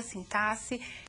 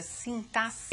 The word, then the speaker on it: sintaxe: vocês uma parte da sintaxe e assim mesmo que se pronuncia sintasse e não sintaxe como alguns querem não é então a sintasse